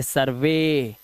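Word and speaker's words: survey: आगे देखो, अब हमारा EY, यदि किसी वर्ड के लास्ट में VO, THO या R हो और उसके बाद हमारा EY आए तो EY का उच्चारण ए से करना है, जैसे सर्वे। अब ई नहीं है क्योंकि V के बाद आया है, TH के बाद आया है, तो कुछ समझ रहे हो, समझो इस बात को, ठीक है। R के बाद आया है, देखो, है ना, इसलिए इसका उच्चारण अब ई नहीं ए है।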